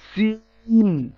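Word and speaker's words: سين: সিন জিহ্বার আগা সামনের নিচের দুই দাঁতের গোড়া, যা এবং সিন একই জায়গা থেকে উচ্চারিত হয়।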